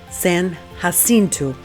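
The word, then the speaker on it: San Jacinto: So, make sure you pronounce it correctly, San Hassinu, cuz the locals are definitely going to give you the look if you say it wrong.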